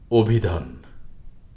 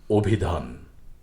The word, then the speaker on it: অভিধান: আজকের প্রথম শব্দটি হল অভিধান লক্ষ্য করুন শুরুর অটি ওকারের মত উচ্চারিত হয়েছে আর এ শব্দে দুটি মহাপ্রাণ ধ্বনি রয়েছে ভ এবং ধ অভিধান তারপর রয়েছে অভিযান অতীত